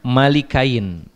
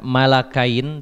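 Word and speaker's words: مَلِكَيْنِ: ibn Abbas yaqra'uha ya, malikain, bahwa Ibnu Abbas radhiyallahu anhu membacanya bukan malakain tapi malikain, bikasril lam, dengan dikasroh lamnya, malik bukan malak.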